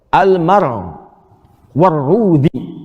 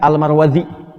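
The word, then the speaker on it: المروروذي: Cara bacanya ada dua yang di sini. Almar warudzi.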